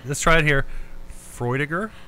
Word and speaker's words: Freudiger: Freudiger.